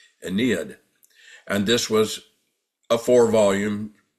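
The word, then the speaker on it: Ennead: know as the Aeneas, not Aeneas spelled with an A, but the Aeneas or the Aeneid, which is spelled with an E, E-N-N-E-A-D, Aeneid.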